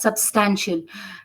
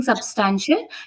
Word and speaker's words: substantial: See, when you were pronouncing substantial, you have to pronounce it together. Okay, don't lay emphasis on the first s or the second s. You pronounced it like it was broken. Substantial. Okay. Pronounce it together. Substantial. Okay, no emphasis.